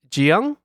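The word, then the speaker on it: Jieun: were two Korean ladies how do you pronounce this j-i-e-u-n it's Korean Jian j-i-e-u-n or June June yeah just June okay June so there was two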